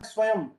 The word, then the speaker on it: स्वयं: तो हम शुद्ध शुद्ध की चर्चा कर रहे हैं, स्वयं। तो स्वयं को ध्यान पूर्वक देखिए, इसमें य के बाद अनुस्वार लग रहा है, जो आधे म का उच्चारण दे रहा है।